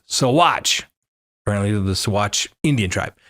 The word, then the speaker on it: Saguache: Let me know it's pronounced Saguache, apparently the Saguache Indian tribe. I lived in Colorado all my life. It doesn't come up very much in conversation, the pronunciation of Saguache or Saguache. Saguache it is.